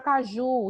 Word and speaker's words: caju: Porque lá eu tenho a palavra caju, e caju não é acentuado para mim. Porque caju, a sílaba tônica é o ju, sim.